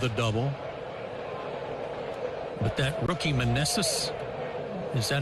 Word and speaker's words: Meneses: But that rookie Meneses, is that how you say his name?